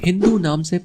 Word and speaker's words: हिंदू: चूंकि फारसी लोग ' स' का उच्चारण 'एच' की तरह करते हैं, इसलिए जब वे यहां आए, तो उन्होंने हमें "हिंदू" कहना शुरू कर दिया।